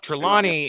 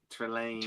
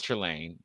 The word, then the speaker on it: Trelane: The the um Trilani is the Harry Potter professor. Um, I knew I said it right. Trelain. Thank you very much. Well, and again, we don't know he's Trelane.